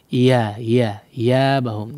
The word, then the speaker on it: إيابهم: Nah, sebagian orang tidak betul-betul mengucapkan huruf ya ya. Iya bahum iya. La iya ya, meskipun tidak betul-betul menekan seperti bertasydid ya, tapi iya-nya harus terdengar betul-betul huruf ya ya. Jangan iya aja ya. Seperti huruf mad dia.